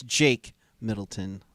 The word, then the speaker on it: Jake Middleton: of course uh kevin correct me it's jake middleton i'm sorry my apologies for for i guess in a way mispronouncing uh mr middleton's first name there or so uh and